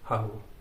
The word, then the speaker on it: Hallo: तो जर्मन में बहुत सिंपल वर्ड है हालो। मतलब इंग्लिश का जो हेलो है उसमें से ई निकाल के आप ए लगा दो, वही है हालो।